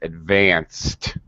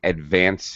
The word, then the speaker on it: advanced: The pronunciation of ed, whether you pronounce a separate syllable, for example, you don't say advanced, you say advanced.